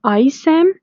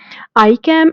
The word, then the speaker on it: ICAM: It can be ISAM and VSAM or VCAM. You can pronounce it either ways. ICAM and VCAM are upregulated on endothelium, and the integrins are upregulated on the leukocytes.